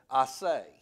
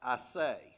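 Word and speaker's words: assay: and there's a word in the hebrews called i say a-s-s-a-y but it's pronounced i say and this is just that it's a purification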